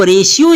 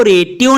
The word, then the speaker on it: ratio: अब रेशियो इसको पढ़ना है, इसको रेटियो नहीं पढ़ना।